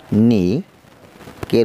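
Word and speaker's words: knock: নক, ঢাক, নক, ধাক্কা, এখানে কের উচ্চারণ নেই।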